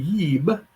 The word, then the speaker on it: jb: yib and the ren the yeeb which is spelled in modern egyptology jb which is spelled in mid-century middle the last century topology ib and if you read you've got that damn wallace budge book you got from dover it's spelled a b because they thought it was more like the hebrew word this is always translated